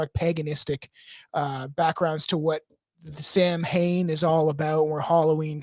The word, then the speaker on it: Samhain: Samhain is the. Oh yeah, it is the proper pronunciation is Samhain.